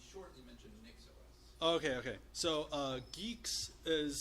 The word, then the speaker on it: Guix: So GUIX is spelled G-U-I-X. It's a terrible spelling pronunciation pairing. It doesn't make too much sense. It comes from the contraction of Guile and Nix, so they chose to keep neither vowel sound.